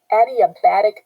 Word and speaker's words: adiabatic: form one is addi adiabatic cooling that's how you pronounce it like the name adi and then a bat tick a bat tick so